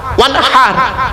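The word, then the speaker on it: وَانْحَرْ: ওয়ানহার এই গলার ভেতর থেকে হেটা উচ্চারণ করবেন, ফাসাল্লি লিরাব্বিকা ওয়ানহার।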